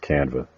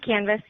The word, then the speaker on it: Canvas: on that, dealing with Canva. Canva? Did I pronounce that right? It is Canvas, like a blank canvas.